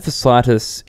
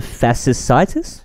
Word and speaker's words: fasciitis: Plantar fasciitis is a... tendon. How do I spell it? Plantar, like a plant. A plantar right next to you. Fasciitis. FASCITIS. CITIIS. Fasciitis. It's like a tendon that